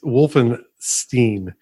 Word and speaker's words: Wolfenstein: I figured as much the proper thing in German is you pronounce the letters as they are written and I comes before E so elgu Wilson Stein